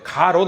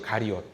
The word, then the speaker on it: 가리옷: 아마 가롯 발음 잘해야 돼요. 가롯 아닙니다. 원래는 가리옷이에요. 가리옷.